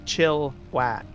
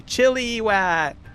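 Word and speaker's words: Chilliwack: Like chill wack. And slightly the I in there. Chilla, right? A little bit. Not so much of an emphasis on I. Chillow. Right. Can't even hear the I when I pronounce it, but there's a lot of people they'll say chili wack.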